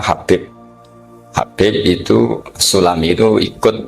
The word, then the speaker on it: Habib: Itu di harokatnya kitab itu ada yang nulis Hubab. Nah, yang benar, yang benar itu bacanya Habib.